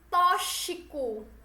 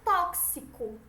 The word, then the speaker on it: tóxico: como ch quando deveria ser KS exemplo tóxico intoxicar tá errado o tóxico alce se é esse KS certo tem muitas pessoas algumas